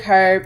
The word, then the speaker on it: herb: Garlic, herb, and butter. Herb, girl, herb. Garlic, herb. The H is silent.